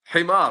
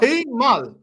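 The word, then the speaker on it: حمار: Himar. Himal. Yeah. Himar. R. Use the R.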